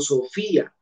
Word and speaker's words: Sofía: Yo digo Sofía, Sofía. La I está en una sílaba fi y la A en otra, Sofía.